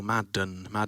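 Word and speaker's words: Maden: Madden, as opposed to made with an N at the end. I'm Australian, mate. We don't even really speak English. I don't know what we're saying after. I want to make sure I'm saying it right. That's all. Madden, like the NFL.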